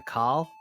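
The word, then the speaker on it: Kol: on the game and I heard you say Cole I say Cole but another pronouncement more of like a call well there are so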